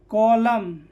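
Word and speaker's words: column: जैसे autumn, कॉलम, डैम और hymn, यहाँ पे एन क्या है, साइलेंट, एन क्या है, साइलेंट, ठीक है।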